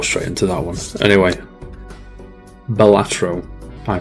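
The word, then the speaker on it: Balatro: Number 5, Bellatro. You know, apparently, according to some Latin experts, it's actually pronounced Bellatro, not Bellatro.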